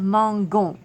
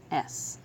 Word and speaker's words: mangeons: having mangeons, we will have mangon, which is not correct. So we need to add an E into the form. So mangeons. Just like in English, adding an E after the G keeps the soft G sound, mangeons.